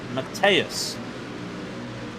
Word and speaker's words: Mateus: Also, speaking of RSR, apparently we're saying Jensen's name wrong. It's Mateus.